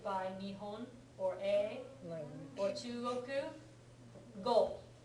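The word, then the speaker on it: 語: communication sometimes preceded by nion or a Oru goal right this goal means language as a this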